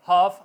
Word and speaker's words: half: इस तरह F के बाद अगर F से पहले अगर L आ जाएगा तो L साइलेंट रहेगा। काफ, पिंडली, CALF, काफ, बोलने में काफ होगा, हाफ आधा, ए एल, ठीक है, HALF हाफ।